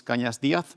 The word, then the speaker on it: Cañas: My name is Kanyas. Very well pronounced by the way.